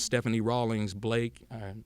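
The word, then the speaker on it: Stephanie Rawlings-Blake: And that's what we see today with Stephanie Rawlings Blake.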